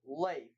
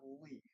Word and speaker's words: Leif: By the way, it's pronounced Leif, not Leaf.